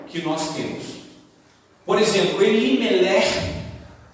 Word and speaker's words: Elimelech: Por exemplo, Elimelech é escrito E-L-I-N-E-L-E-C-H. O CH no hebraico, ele tem uma pronúncia na garganta, assim, como se fosse um R de carioca, né? Então, Elimelech, né?